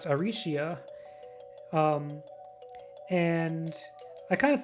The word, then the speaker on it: Arsia: be transliterated as like arcia in japanese is pronounced arishia um and i kind